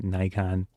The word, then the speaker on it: Nikon: I say Nikon, people, and I'm in the United States, but people in the United States say Nikon, and the technical pronunciation, if you're in Japan, is Nikon. It's three syllables in uh I don't they